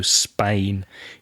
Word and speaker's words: Spain: And while we're speaking about pronunciation, just be careful of that vowel sound, Aria, in Spain. It's A, so the same sound as in words like way, stay, and play. So Spain. You lived in Spain for 11 years, which is a long time.